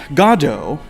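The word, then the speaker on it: Godot: know i've learned that godo is the correct pronunciation it is beckett's preferred pronunciation in english you know there's lots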